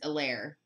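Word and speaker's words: Helaire: antonio gibson for washington elaire the h is silent okay so let me go back because i want to clyde edwards elaire okay dj chart to 299 and then keaton allen to 99.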